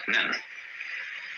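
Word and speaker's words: 念: This is pronounced nyan, in Japanese nen.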